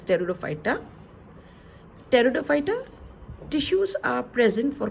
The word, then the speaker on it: pteridophyta: pteridophyta pteridophyta this word this word P is silent hence it's pronounced as pteridophyta pteridophyta tissues are present